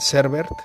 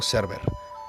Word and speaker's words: Servet: Es muy interesante la narración de este triste hecho histórico, solo que el personaje asesinado que se llama Miguel Servet, no Server.